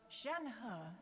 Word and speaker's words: Shenhe: However, Shen He is human. I'm sorry, Shenhe! Gotta say it like that. Gotta say it like you're getting punched in the stomach halfway through.